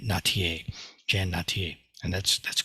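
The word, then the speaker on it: Nattier: too so I would I would pronounce her name as nadir but she actually goes by natier Jen natier and that's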